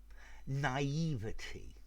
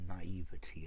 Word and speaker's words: naivety: adjective naively the adverb naivety the noun or naivede well the french pronunciation i think you're better off with naivety as the noun talking